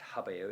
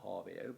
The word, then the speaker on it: habeo: a dactyl um and it's habeo it's not harveo but there we go now